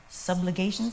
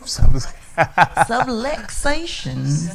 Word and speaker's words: subluxations: And I don't know, did you guys get to hear any of the subligations? Am I saying it right? Subluxations.